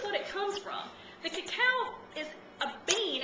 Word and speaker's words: cacao: to add some raw cacao now this is the raw real chocolate the actual pronunciation is Cacao it's c a CA